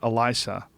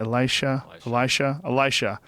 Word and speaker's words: Elisha: Elisa. Elisa? How do you say that? Elisha? Yeah, he went up to Bethel.